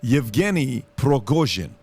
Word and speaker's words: Yevgeny Prigozhin: Number one, the guy behind Wagner Group is a guy named, I want to pronounce this correctly, Yevgeny Prigozhin. Okay, That sounds Prigozhin.